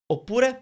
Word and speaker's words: oppure: Oppure means or. It doesn't have a different meaning. It's just oppure means or. But it's longer. Oppure. It's 3 syllables. It's got a double P.